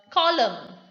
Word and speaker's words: column: Next we have another rule, that is, if the letter N comes after the letter M at the end of the word, it is not pronounced. That is, if it is a combination of MN, N coming after M at the end of the word. So you see the word column, dam. So this is the example for the rule of silent letter N.